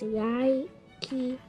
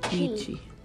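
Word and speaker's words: Yi qi: The shortest dinosaur name is Yaki-e-chi. Yaki-e-chi. Actually, I think it's just pronounced Ichi. Ichi. That almost sounds like eat cheese.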